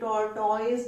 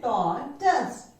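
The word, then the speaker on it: tortoise: टॉर्टॉइज नहीं है, ये टॉर्टॉइज नहीं है, ये है टॉर्टस. टॉर्टस, टॉर्टस, ठीक है. This is टॉर्टस.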